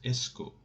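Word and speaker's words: est-ce que: does in english language but it is called esco is pronounced like that esco and it is more polite whenever you want to make a question politely you can use esco but how at you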